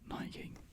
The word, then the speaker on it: Nike: And of course I know Nike is Nike in the UK, not Nike as it's pronounced over in America.